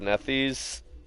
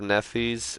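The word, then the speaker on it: Nethys: pick archives archives of nephews it's spelt n it's like neff like n-e-t-h and then y-s nephews um archives of nethers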